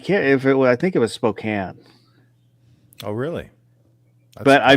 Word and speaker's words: Spokane: I think it was Spokane.